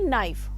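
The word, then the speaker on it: knife: Next speaking skills correct pronunciation says the word allowed के एन आई ई नाइफ। सो यहां पर के साइलेंट है।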